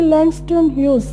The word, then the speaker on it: Langston Hughes: Okay, Langston Hughes, the pronunciation would be Langston Hughes, not Hughes.